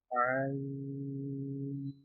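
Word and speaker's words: ع: Ain. This letter is pronounced from the middle part through. This letter is pronounced in the middle part of throat, the part of throat which is between our chest and our neck.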